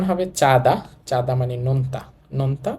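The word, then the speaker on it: 짜다: উচ্চারণ হবে চাঁদা, চাঁদা মানে নোনতা, নোনতা বা লবণাক্ত।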